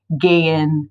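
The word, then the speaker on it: geh: we have the verb gay in how do you say go just like a command like go you would say gay gay all right and number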